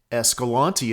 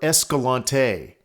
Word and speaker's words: Escalante: Escalante itself is usually pronounced the way I'm saying it. However, some people, mainly locals, pronounce it Escalante or Escalante, with emphasis on the A. The actual town of Escalante, which is located inside